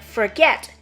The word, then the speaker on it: forget: at the following examples in the word forget there are two syllables four and get the stress is on the second syllable not the first one so is rise